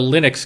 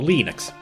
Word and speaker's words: Linux: Named after the creator of the Linux kernel, Linus Torvalds. And his first name is pronounced with a hard I, so Linux.